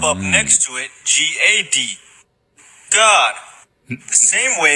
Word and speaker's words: Gad: God. The same way it's pronounced in Enoch, with that little vowel point above the A.